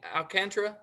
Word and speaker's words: Alcantara: ahead sergio how do you say his name alcantra yep so sergio bodie bye bodhi 23 ribbies